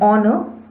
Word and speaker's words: honor: Another example, a honor is incorrect because even in this case h is silent. Hence, an honor is a correct answer.